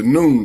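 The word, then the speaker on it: Nun: N-U-N, the noon. It's pronounced just like noontime.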